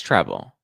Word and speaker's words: Treble: Oh, it is treble. Rhymes with web.